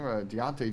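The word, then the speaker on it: Diontae: And then I believe Devontae Johnson, is that how you say his name? Deontay Johnson Yep.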